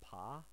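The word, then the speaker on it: ぱ: So, especially here, we notice with the H section, this is going to become a P sound. So you're going to wind up reading this as pa.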